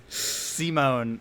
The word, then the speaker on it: Simon: Why isn't it Simon? It's spelled like Simon. I thought it would have an E on the end.